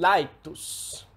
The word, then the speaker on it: laetus: trill, and we had one lateral sound, the sound [l], as in "laetus" (happy", exactly like english.